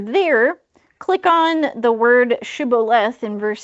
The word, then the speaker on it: shibboleth: So, if they said sibboleth instead of shibboleth, Oh, that's a fantastic question.